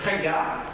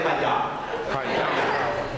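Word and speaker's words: חיה: That word vigorous is the Hebrew word chayah. Did you hear it? Literally, the Hebrew wives are chayah. And they get it done, and then the baby's out. Everybody say chayah.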